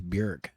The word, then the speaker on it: Björk: And she's like, "My name is Björk. It rhymes with jerk."